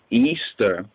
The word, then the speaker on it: Ishtar: of the Google search ishar which is pronounced Easter was a day that